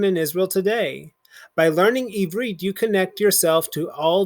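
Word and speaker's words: עברית: an ulpan a kind of kita for teaching evreet to new citizens the lessons are taught using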